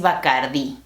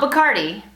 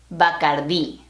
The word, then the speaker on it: Bacardí: El único ron que tomo es Bacardí. Not Bacardi, sorry Cardi B, Bacardí. Notice that accent on the I.